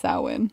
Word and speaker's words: Samhain: but it was called samhain oh um but which is really weird when you read the word like you're looking at it spelled it does not look like it's pronounced sahwin really yeah it's pronounced